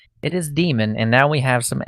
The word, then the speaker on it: daemon: It's demon. It is demon, and now we have some ammo.